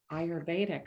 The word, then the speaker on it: Ayurvedic: She's also a certified, and I want to make sure I pronounce this right. It's IIU practitioner? Ayurvedic.